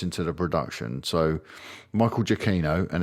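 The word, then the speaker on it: Giacchino: so Michael jaino and it's official that's how you say his name I've known this for years jaino it's really frustrated to me all these years people saying jino jino Gino it's jaino um he actually said it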